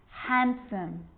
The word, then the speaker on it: handsome: be silent too wednesday handsome sandwich so i'm not pronouncing the d in i'm just pronouncing the consonant n sound before it try it with me